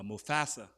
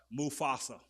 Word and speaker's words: Mufasa: But now and when that that that that that animation uh Mufasa I said it right then. Mufasa. Okay. Mufasa. Forgive me for being from Mississippi and y'all from the northern. I know you Mufasa.